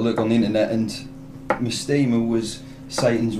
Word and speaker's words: Mastema: How do you actually pronounce it? It is Mastema.